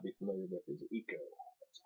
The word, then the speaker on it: Ico: The one you may or may not be familiar with is Ico. That's I-C-O. It would be pronounced Ico, since it's Japanese based.